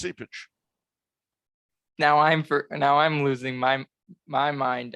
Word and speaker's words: Cupich: Oh, only in your mind is that pronunciation. Why? Is there another? Do you have no idea what it is? Yeah, it's Sipich. Okay. No, I know he gets upset when people call him Cupich.